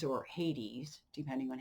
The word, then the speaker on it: Hades: so in the fall then she goes to haides or hades depending on how you pronounce it to be with the underworld for